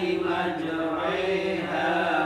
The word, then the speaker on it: مَجْرَاهَا: Tidak dibaca majri. Kalau ri itu sempurna harokat kasroh, yang ini fathah condong ke kasroh.